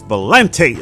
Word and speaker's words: Valente: Yeah, she said it's Valente or something like that.